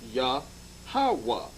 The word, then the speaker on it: Yahweh: Jehovah, the 3-syllable breakup, the tetragram, the Y, the H, and the W and the H is pronounced Yahweh.